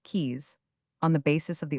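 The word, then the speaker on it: Caius: Caes founded the college named after him and popularly pronounced keys on the basis of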